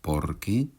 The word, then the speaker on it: porque: Je pense que cela se remarque à la prononciation. Dans le premier cas, deux mots avec l'accent sur le second : « Por qué ? » Dans le second cas, un seul mot avec l'accent sur la première syllabe : « porque ».